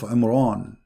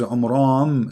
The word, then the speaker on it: Amram: Secondly, he could not pronounce the name correctly of the father of Moses and Aaron, because his name is Amram. So the last letter is M, not N.